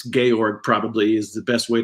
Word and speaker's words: Georg: Theodor oorno George lucax I call him George it's gorg probably is the best